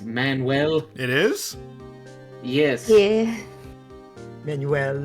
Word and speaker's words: Manuel: I just want to point out that name's pronounced Manuel.